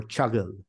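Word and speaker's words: Çağıl: surname uh or sometimes I try to pronunciate my name in English you know writing it with g h i g l so it's much more chugle chug something like that so how would you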